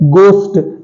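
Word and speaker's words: ghost: हमारा वर्ड है घोस्ट इसे घोस्ट नहीं बोलते हैं इसे बोलते हैं क्या बोलते हैं गोस्ट इसमें गोस्ट ट गोस्ट तो साइलेंट है इसमें ठीक है अगला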